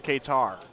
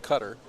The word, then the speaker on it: Qatar: streaming from tomorrow is katar ladies and gentlemen the illustrious mike flanagan yeah it can also be pronounced cutter cutter yeah and we'd like